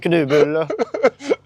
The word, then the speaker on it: kanelbulle: How it's pronounced to me is kanelbulle.